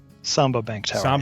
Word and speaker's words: Samba: in London, and the uh Samba is that pronounced Samba? Samba Bank to Tower.